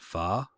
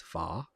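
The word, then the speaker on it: phở: too it's funny because most people call it pha like well like far is like how they say it in in the united states but in vietnam it's far far it's just pronounced different uh it was funny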